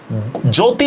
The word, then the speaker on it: জ্যোতি: এরপর দেখেন জ্যোতি, যখন আমি লিখতেছি জ্যোতি, ফিজিক্স, জ্যোতি, দেখেন শব্দের শুরুতে একটা জফলা আছে, কিন্তু দেখেন তো এটা কোনো উচ্চারণ হইতেছে? এটা কোনো উচ্চারণ হইতেছে না।